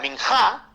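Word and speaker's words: minjah: aparece que es la palabra minhat eh minat se escribe de la siguiente yo lo letreo para que ustedes puedan escribirlo ahí m i n j a H minja eh Y esa era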